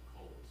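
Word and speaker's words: χολή: The English word gall in the New Testament comes from the Greek word, and I believe it's pronounced chole, C-H-O-L-E.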